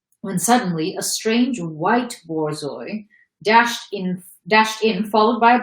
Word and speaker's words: borzoi: I wanted to show you a borzoi. Is that how you say it? I think it's borzoi because Borzois. I don't think it's French. I think it's Russian.